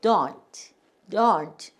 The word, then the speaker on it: don't: 그리고 요게 트인데 이 영국 사람들은 요 트를 don't 이렇게 발음을 해. 근데 미국에서는 트를 거의 발음을 안 해. 그냥 don't 이래요.